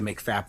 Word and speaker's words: MCFAP: So, when we say make fap, that's what we mean.